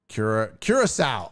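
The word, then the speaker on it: Curaçao: You got to spell it like cure, C-U-R-E, cure dash and then S-O-W. Well, yeah, I'd say Curacao, and then you can say sow like cow.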